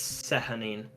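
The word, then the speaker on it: Sehanine: oh oh hang on it might be a sha like if it's Irish uh see honey in his CNN wait it's one that's s-e-h-a-n-i-n-e yeah yeah that's like sehunting or something let's see hanin uh Sienna is also fine but like I I from what I'm reading it's seconding okay we're gonna try that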